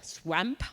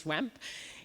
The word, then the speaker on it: Swmp: nature conservation basically this project called swamp I guess it's pronounced swamp it's something uh that